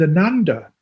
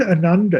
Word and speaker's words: Ananda: And Ananda is often translated as bliss.